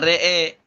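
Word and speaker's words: رأى: Waqfan imalah fathatur ra wal hamzah wal alif dibaca re'e.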